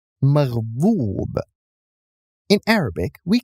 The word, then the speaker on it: مغضوب: Likewise, we do not pronounce the waw, but the letter before it, dad, with extending the dhamma. It's not maghdub, it's maghdoob.